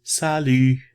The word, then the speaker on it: salut: Okay, you have the sa and lu. Now that Y, phonetics, okay, it's not pronounced like the letter Y in English, right? The phonetic system is the E sound. Now, we did the sounds of French already, so you already familiar with the sound.